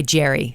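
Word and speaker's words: Jeri: Is it Jaren? Well, yes, but I go by Jerry.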